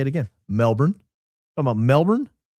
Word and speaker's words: Melbourne: As a Melbourneian myself, your pronunciation was great. Where so many get it wrong. Best wishes from down under. Oh, Melbourne? Well, thank you. If all I got to do is say Melbourne, I get 8 Australian bucks.